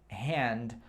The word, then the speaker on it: hand: Hand, hand. O H tem o som de R no inglês, então é hand, mão.